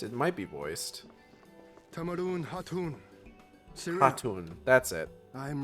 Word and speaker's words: Hatun: Tamarun Hatun. Hatun, that's it. I am returned. The K is silent.